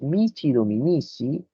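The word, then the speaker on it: missi dominici: Las leyes que emitía el emperador se llamaban capitulares y los mici dominici, como se pronuncia en italiano, tenían que velar por el cumplimiento de esas capitulares.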